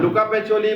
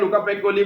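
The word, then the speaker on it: Luca Pacioli: हाँ, लुका पैचोली बोलते हैं, लुका पैकोली बोलते हैं बच्चे।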